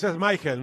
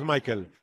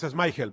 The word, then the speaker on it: Schmeichel: Es Schmeichel, no es Michael. No pronuncia bien eso, ¿no? Es Schmeichel, porque es danés.